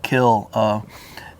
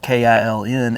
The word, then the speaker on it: kiln: using the word kill it's interesting that word was originally pronounced this way and it was spelled k-i-l-n and then uh as the as the the word got used in books and stuff people would read it as Kiln so when you hear people say the word Kiln it's because they mispronounce the word kill okay I did not